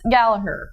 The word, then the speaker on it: Gallagher: exact issue and it's Gallaher officially the G is silent is per ounce in